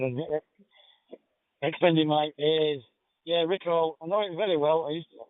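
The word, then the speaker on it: Riccall: If you didn't, I pronounced it Rickall, being from Bradford and extending my ears. Yeah, Rickall, I know it very well.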